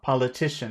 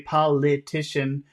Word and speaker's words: politician: Politician. It's not. You could, if you want, you can say politician, but I think you could just pronounce it like a schwa.